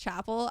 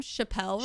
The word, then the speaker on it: Chappell: I didn't realize that it's pronounced Chapel. I was calling them Chappelle Roan.